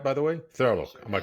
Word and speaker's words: Thurlow: episode we're talking to Drew thurlo did I pronounce it right by the way thurlo am I correct fantastic who is a groundbreaker